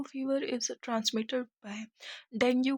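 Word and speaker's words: dengue: Question number 115 बोल रहा है डेंगू fever is transmitted by. डेंगू को आप डेंगी भी बोलते हैं, इसकी राइट प्रोनाउंसिएशन है।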